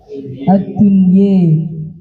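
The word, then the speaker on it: الدنيا: Kalimat yang berakhiran ya atau zawatul ya dibaca imalah antara fathah dan kasrah. Seperti ad-dunya dibacanya ad-dunye, duheha, yakhshi.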